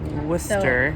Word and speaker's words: Worcester: Worcester. So it's spelled like Worcester, but it's pronounced Worcester.